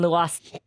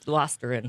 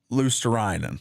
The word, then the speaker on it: Luostarinen: Marchand, Lundell, and Luostarine. Who is it? How do you say his name? It's Luostarinen. Uh Luostarinen. Luostarinen, there we go.